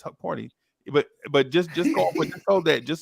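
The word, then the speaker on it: Hukporti: I told y'all about Huckaporty. But what I noticed, I think it's actually because Yeah, who is Huckaporty, bro? Huck Porty, Who You is always add the Huckaporty?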